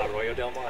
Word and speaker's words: Arroyo del Mar: Heidi with Premier Equestrian, and we're here with Steffen Peters at his beautiful farm, Arroyo? Is that how you pronounce it? Arroyo del Mar. Arroyo del Mar, very good.